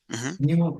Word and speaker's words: knew: The knew pronunciation is new. knew like new. Exactly, like new.